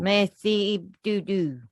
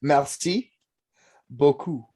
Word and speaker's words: merci beaucoup: Merci beaucoup. Merci du. Did I get it? No, merci beaucoup.